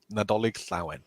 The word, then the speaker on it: Nadolig Llawen: Is one of you guys able to pronounce that? Nadolig Llawen.